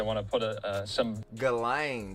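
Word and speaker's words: Ghislaine: to put a some galain that's how you pronounce the name I ain't going to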